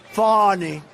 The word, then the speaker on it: Fani: funny it's spelled Fanny it's spelled Fanny like your ass right but when she became da she decided to add a little French a little Fancy funny funny and you know sorry